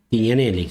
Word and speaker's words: Tignanelli: Mi primer pregunta antes de que Leo te haga la suya, ¿es tignaneli o Tiñanelli? Tiñaneli se pronuncia. N se pronuncia como una italiana. Italian. Claro. Un poquito italiano.